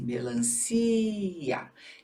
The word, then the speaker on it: melancia: A sílaba tônica continua sendo assim melancia.